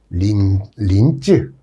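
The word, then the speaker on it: 臨淄: 기름진 땅이고 이 춘추 시대의 최대 도시가 바로 임치예요. 임치. 임치 그럼 무슨 생선 이름 같은데 이것을 중국식으로 발음하면 린쯔 이런 식으로 린쯔 이렇게 발음되는데 아마 임치 이야기가 우리 강의 중에 많이 소개될 겁니다.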